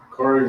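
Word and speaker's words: Bukhari: Bakari was an Islamic hadith collector in Islam. And nothing to do with yoga. The reason I brought that up because it rhymes with sorry.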